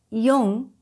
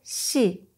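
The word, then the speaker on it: 四: 4 is pronounced yon or shi.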